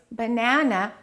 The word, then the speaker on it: banana: They will say banana. We have three a three a's in English. We don't keep everything the same length. We stress one and we reduce the rest. In this case, banana, the second syllable is stressed. So, we would say it like this. Banana.